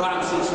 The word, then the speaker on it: رعمسيس: طبعا نعلم ان هذه الفتره في الأسرة 18 وعصور أطعام السبت، النطق الصحيح طبعا شرمنا طبعا رمسيس لا رعمسيس، وأن نقول إيه الرعامسة لهم دور كبير في التاريخ المصري واستقبال الحضارة المصرية في الداخل ونفوذ مصر الخارج.